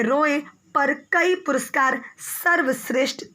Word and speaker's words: राय: यहाँ पे कई लोग रे, ये RAY है, लेकिन इसको रे नहीं बोलेंगे, राय बोलेंगे, ठीक है. रॉय, ठीक है, राय, सत्यजीत रॉय. आप इसको प्रोनाउंसिएशन राय रॉय, ठीक है, रॉय राय, ठीक है, ऐसे बोलिएगा, नॉट रे.